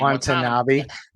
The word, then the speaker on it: Watanabe: I can never pronounce Yuta's last name. Watanabe.